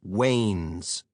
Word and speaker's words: Weans: Weans equals wanes. But that there is a noun, my friends, not a verb.